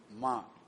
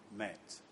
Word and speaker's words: Ma: Can I please repronounce the name? Name Ma, not Met.